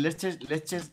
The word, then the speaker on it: Leicester: Que se llama, está en Leches. Bueno, allí lo llaman Leches Square. ¿Sabes? Leches Square. Se escribe Leicester.